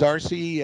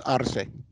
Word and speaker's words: Arce: to pronounce your name is it rc yeah for the non-spanish speakers they pronounce it as rc uh i speak spanish it's arsei a retired phoenix